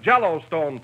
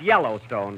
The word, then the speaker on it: Yellowstone: And out West, we have Jellystone Park. Wait a minute. Wait a minute. That's pronounced Yellowstone, Don, but I see your point of view.